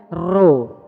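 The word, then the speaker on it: rho: Kalau P di dalam bahasa Yunani bacanya ro.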